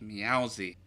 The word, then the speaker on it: Meowsy: Meowsy. Rhymes with lousy.